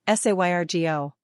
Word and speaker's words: Sergio: Pronunciation, Sergio.